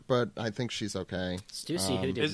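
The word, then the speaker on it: Stussy: did get hurt but I think she's okay Stuy who did not die is it pronounced Stuy yes yeah okay I've been pronouncing it the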